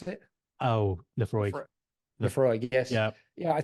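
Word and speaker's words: Laphroaig: Lafroig. How do you pronounce it? Oh, Lefroy.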